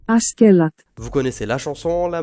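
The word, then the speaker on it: Askeladd: Prénom targallo-danois qui se prononce en réalité Askelat.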